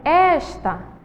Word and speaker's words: esta: Então vamos lá, e está? Qual é a sílaba mais forte? Está, a segunda, está acentuada, certo? E a segunda aí que temos é esta, esta. A primeira sílaba é a mais forte.